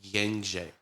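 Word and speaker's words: Gencay: just called him Jen his real name is pronounced like genj like it's how is it spelled I tell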